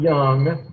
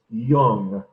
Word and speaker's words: Jung: So like with the words with Hippocrates, make sure you know how to pronounce them. With Carl Jung, it's not young, and it's certainly not Jung. It's Jung.